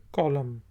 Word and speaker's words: column: कॉलम कहते हैं उर्दू में, कॉलम इंग्लिश में, एन साइलेंट है।